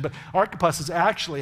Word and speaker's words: Archippus: I know that sounds like a strange pronunciation, but Archippus is actually how it's pronounced, and I actually forgot that when I first read it. Archippus is how it's pronounced.